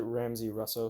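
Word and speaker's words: Ramsey Rosso: Russo rah so he he pronounces it Ramsey Russo so I'm gonna say I guess I'm gonna say that but I would consider it Russo but whatever blood work he's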